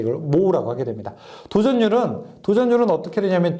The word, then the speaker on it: mho: 이걸 읽을 때는 그래서 모라고 있습니다. 모. 왜냐하면은 옴이요. OHM이거든요. 이거 거꾸로 읽게 되면요. MHO잖아요. 그렇죠? 그래서 읽을 때 이걸 모라고 하게 됩니다.